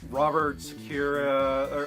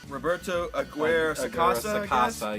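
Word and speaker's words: Roberto Aguirre-Sacasa: Robert Sakura, or how do you say that? The writer Sakura Aguirre. Roberto Aguirre Sacasa.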